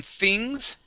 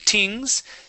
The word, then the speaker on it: things: Let's practice the TH on things. Things? Uh-huh. All right. Let's throw it in here. Before you had said tings.